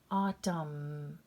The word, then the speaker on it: autumn: gonna be silent here autumn the word i'm gonna make that cross over it's silent salum here we go